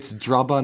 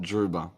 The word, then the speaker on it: Drubber: It's Drubber, not Druba.